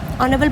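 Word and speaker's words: honourable: ऑनरेबल begins with ए silent H एंड अ vowel sound there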